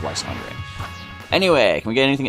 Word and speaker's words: Lysandre: So, but yeah, Lysandre is Lysander. Interesting to know. But, if you're expecting me to start calling him Lysander in the TCG, don't hope for that anytime soon. I still just like the sound of Lysandre.